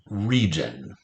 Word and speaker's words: region: Re, finger space, j. Here's our rare phonogram. This is rare j, 2-letter j, spelled with a GI, as in religion.